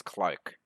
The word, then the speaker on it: clerk: He definitely pronounced clerk as Clark, so I don't did know.